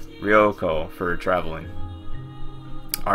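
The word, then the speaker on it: 旅行: the r in it rioo and it also has the long o at the end rioo for traveling all right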